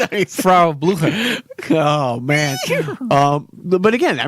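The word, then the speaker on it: Frau Blücher: Frau Blucher.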